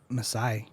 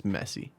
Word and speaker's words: Messi: I've been saying Messi. It's Messi.